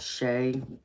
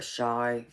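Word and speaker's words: Shai: It's by a group called Shay, or Shy. It's spelled S-H-A-I.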